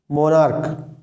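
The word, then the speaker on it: monarch: जैसे मोनार्क, मोनार्क के last में सी एच है लेकिन इसका प्रोनाउंसिएशन क हो रहा है, तो इसलिए मोनार्क का प्लूरल बनाने के लिए इसमें सिर्फ एस लगाते हैं।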